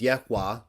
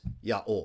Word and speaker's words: Yahweh: The vowel pointing says Yahweh. I believe the original pronunciation was Yaol.